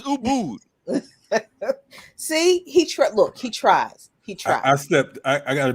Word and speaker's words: Ubud: I don't think they want you to come though until you learn to pronounce the names of their cities and countries and societies and shit. So Ubud. My bad. It's Ubud.